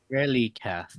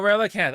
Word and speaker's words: Relicanth: Um, Uh, Relicath is today's Pokemon. wait, who? Relicath? Right, the ancient looking fish Pokemon. Oh, Relicanth.